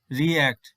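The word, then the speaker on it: react: word এই ওয়ার্ডটি হচ্ছে রিএক্ট রিএক্ট তাহলে ই তারপর হচ্ছে এ এই সাউন্ডটি হচ্ছে এখানে ই এর সাউন্ড হচ্ছে ই এ এখানে তাহলে 10 টি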